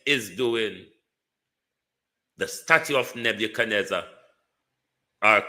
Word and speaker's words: Nebuchadnezzar: The statue of Nebuchadnezzar or call it like how the Africans pronounce it. Nebuza, your statue is falling apart and wholeness.